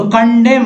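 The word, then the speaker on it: condemn: फिर यहाँ देखिए यहाँ भी MN है तो कंडेम, कंडेम M तक पढ़ेंगे, यानी कंडेम मीन्स निंदा करना।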